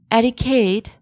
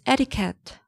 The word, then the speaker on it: etiquette: It's not etiquette, it's etiquette.